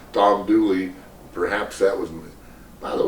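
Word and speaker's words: Dula: But Tom Dooley, you pronounce his name the same way the Grand Ole Opera, O-P-R-A. It should be Opry, but anyway, Dooley is that mountain slang word for his name.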